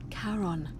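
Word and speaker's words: Charon: Karon.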